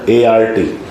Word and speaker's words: ART: जैसे ART को आर्ट कभी नहीं बोलेंगे, इसको हमेशा क्या बोला जाएगा? ART। ऐसा नहीं बोलोगे आर्ट, यही कला है, बाकी सब विज्ञान है।